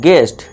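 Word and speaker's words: guest: इस तरह देखिए यू के बाद फिर से आ गया ई, ये एक वोवल वर्ड्स है, तो यू के बाद दिख जाए वोवल वर्ड तो यू साइलेंट, तो इसे क्या पढ़ेंगे हम, गेस्ट।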